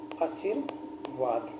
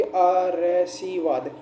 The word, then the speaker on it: आशीर्वाद: होगा, ये आ है, ये र है ना, ये स से पहले बोले जाएगा। तो क्या हो जाएगा साथियों, इसका उच्चारण करके देखिए साथियों, क्या हो जाएगा साथियों की आरसीवाद। आरसीवाद होता है। या फिर जो अब अपन ने लिखा है इसका उच्चारण करके देखते साथियों, ये क्या कह रहा है साथियों हमके, ये हो